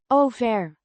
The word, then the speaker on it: over: Pronounced over with a long o sound.